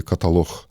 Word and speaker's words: каталог: ставляться наголоси і так в слові Ізраїль має стояти наголос на А так само як в слові каталог на О а не на А коли є Отакі речі